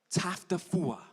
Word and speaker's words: Taufatofua: It's, let me say it right, TAUFATOFUA.